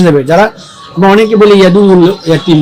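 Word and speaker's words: يدع: যারা আমরা অনেকে বলি ইয়াদুল ইয়াতিম না ইয়াদুল ইয়াতিম কোন শব্দ না ইয়াদু এখানে আইনের উপর তাসদীদ আইনটাকে দুইবার উচ্চারণ করতে হবে ইয়াদু ইয়াদু ইয়াদু ইয়াদুল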